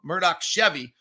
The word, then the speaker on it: Murdoch: that you deserve from our friends over at Murdoch Hyundai. Murdoch Chevy. I said it wrong. Murdoch Chevy, located over in Woods Cross and in Logan.